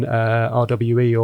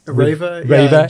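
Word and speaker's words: REWE: I know you're in RWE, or I think it's pronounced Reva in Germany.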